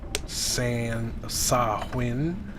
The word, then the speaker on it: Samhain: on my monitor here Samhain pronounced san saw wind in English okay sapling is derived